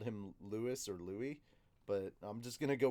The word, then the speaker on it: Louis: called him lewis or louie but i'm just gonna go with louis because that's usually because this spelling is usually coming from the french pronunciation pronunciation wow yeah and